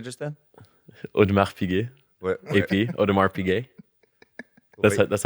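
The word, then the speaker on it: Audemars Piguet: what what did you say just then OD odar pay that's that's how you pronounce it how remember this video the video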